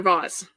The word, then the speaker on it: vase: I have always said vase. I don't know that that's a Canadian thing or just a always heard my mom say vase thing. But that's how I learned to pronounce it. So I'm interested to know whether you say vase or vase.